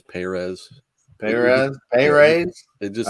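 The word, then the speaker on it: Pérez: do you know that he likes the the fastest on the first syllable of his last name the proper pronunciation is perez hey raid it just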